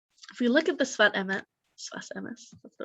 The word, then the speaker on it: Sfat Emes: If we look at the Sfat Emes, that's the right way to say it.